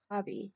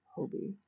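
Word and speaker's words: Hobbii: with Gia, told us, it's pronounced hobby, not Hobie, as a lot of people pronounce it.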